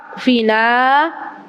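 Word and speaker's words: اكفنا: Kalau mau nulis bahasa Arab ada alifnya, tapi alifnya tuh nggak kebaca. Allahumma ikfina, tapi bacanya Allahumma kfina.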